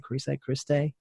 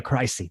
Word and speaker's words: Crise: Is that how you pronounce it? Christe? No, we dropped the T. Pricey. Yeah, Crisey.